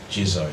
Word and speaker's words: Jisoe: Is it Jisoe or Jisoe? Jisoe. Yeah.